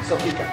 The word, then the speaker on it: Soplica: you oh so this is how do you pronounce it again soopa soopa Queens vodka is a traditional polish drink I